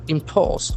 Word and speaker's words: impose: Threatens to impose. I p. We can find the sound here. Letter o has ever sound. Impose. Impose. Then letter S has Z Z sound also impose you